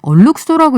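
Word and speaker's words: alookso: 오늘 경제탐사 A look so라고 써 있는데 얼룩소라고 읽어달라고 하셨어요. 얼룩소의 에디터 산디님 나오셨습니다.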